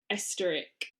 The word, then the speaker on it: Oesterreich: So, the case I'm doing is of Dolly Esteric. It is a German name, so I am going to spell it and then I'm rarely going to say it again.